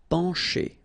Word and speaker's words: pencher: Okay, remember, E-N nasal, pen, pencher. Okay, C and H together will produce the sound sh.